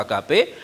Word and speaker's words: agape: Kasih agap itu dalam bahasa aslinya ditulis kata Yunaninya agape. Itu bacanya juga agape.